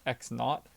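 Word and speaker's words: x₀: is actually a not symbol so this is pronounced x naught this is the these are the variables that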